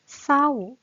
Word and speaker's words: เศร้า: เดียว อ่าน ว่า สร้อย ผัด ป้าย เศร้า เหมือน เสริม กับ สร้อย เลย ค่ะ อ่าน ออก สอ สา ลา ตัว เดียว นะ คะ เศร้า มี พัด ไป